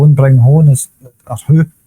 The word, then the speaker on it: Ho: bring Ho on as who. His name's Who, and bring him on as a substitute. It just sounds funny saying Who. I mean, it's Casper especially when it's spelt Ho.